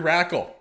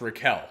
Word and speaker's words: Rakell: Tomas Hertl and Rickard Rakell. Yep, that's his name. Surely that cannot be pronounced Raquel.